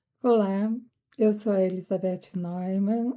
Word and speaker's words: Neumann: Olá, eu sou a Elizabeth Neumann, é uma pronúncia em alemão, mas a maioria das pessoas aqui no Brasil me chamam de Elizabeth Neumann ou Neumann, e é apenas um detalhe para vocês não estranharem quando alguém se referir a mim como Neumann, poucos falam Neumann.